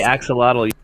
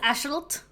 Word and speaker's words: axolotl: how's that say axolotly it's pronounced astralt aschol oh well are you sure about that um i'm not sure about that but i'm sure it's not axolotl because it's a nahol word and the x doesn't go it goes i like saying